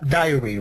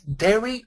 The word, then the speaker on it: dairy: so diary is that diary right diary Diary no no I think it's dairy or or dairy I Dairy Dair dairy dairy I always go confused with that word because it's Dairy yes it's a allergic